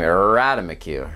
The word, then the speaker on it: ratamacue: kind of has an elongation at the beginning radamiku right rata macu radomic you radomiku um and so we've got